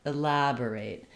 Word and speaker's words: elaborate: I don't want elaborate, but elaborate, elaborate. So I still have I need a little bit of length to have my A sound, but I want my main length to be on the lab syllable.